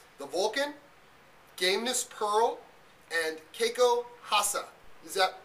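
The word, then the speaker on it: Koral: The Vulcan, Gameness Pearl, and Hasa. Is that pronounced right, Dave? Yeah, that's right. Most people think it's Kiko Raka, but the actual Brazilian or Portuguese pronunciation is Hasa.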